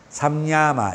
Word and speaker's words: 삼야마: 삼야마. 이렇게 상도 아니고 삼도 아니고 그 중간 발음 상도 아니고 샤 상 상도 아니고 삼도 아니고 삼야마 이렇게 샹 샹 샹야마 이렇게 이야기합니다. 뒤에 넘어 나와요.